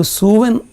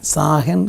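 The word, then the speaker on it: Samhain: ആത്മാക്കളെ കുറിച്ചുള്ള ഒരു സങ്കലപം ഒരു സൂവൻ എന്ന് പറയുന്ന സാഹൻ സൂവൻ എന്നൊക്കെ പറ പല ഉച്ചാരണങ്ങൾ അതിനുണ്ട് സൂവൻ എന്ന് പറയുന്ന ഒരു മരണത്തിന്റെ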